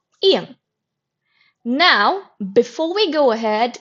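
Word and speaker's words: 아이: Okay, so in this case, the ing, it remains silent and you only pronounce the vowel. In the first syllable, the vowel is a, and in the second syllable, the vowel is e. So the word it's pronounced as I.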